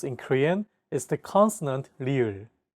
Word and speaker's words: 리을: One of the most unique sounds in Korean is the consonant 리을. 르. This consonant is often romanized as an R or an L, but there isn't an equivalent sound in English.